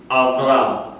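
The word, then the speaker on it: אַבְרָם: Without the dagesh, so it's a V.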